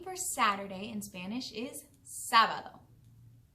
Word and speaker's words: sábado: The name for Saturday in Spanish is sábado. Sábado. Sábado. You try. Excellent. Sábado is spelled S, A with an accent, B-A-D-O. Sábado.